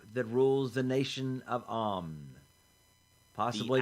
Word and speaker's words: Amn: In Faerun, what is the name for the anonymous group that rules the nation of Amn? Possibly pronounced Amn.